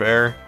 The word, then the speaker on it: Aar: Is it bad that before I knew how to pronounce Air's name, I pronounced it as R instead of Air?